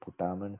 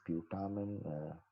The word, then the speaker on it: putamen: This is called putamen. People pronounce it in different ways. Some call it putamen, some call it putamen, and you can call it putamen.